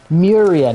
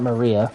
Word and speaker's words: Muria: Muria, not Maria.